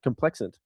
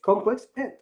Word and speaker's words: Complexant: I'm like, "Oh, you know, Complex Ant." Like, they're like, "What?" "What did you say?" Well, I think of com- complex and then put ant on the end of it. That's how you spell it.